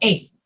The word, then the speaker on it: eighth: of the ordinal numbers we don't say eight we just skip the first t and say eighth the eighth time eighth the eighth